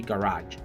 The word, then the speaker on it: garage: Tenemos cochera, aquí practicamos la GE como orange, ¿sí? Garage.